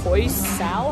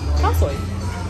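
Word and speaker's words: khao soi: I know Christian wants some koi sao. How do you say koi sao? Oh, sorry. Oh my god, sorry, my pronunciation's horrible. Koi soy? Koi soy? Khao soy?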